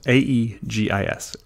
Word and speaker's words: Aegis: word is Aegis Aegis it's actually pronounced AE GIS Aegis a shield or breastplate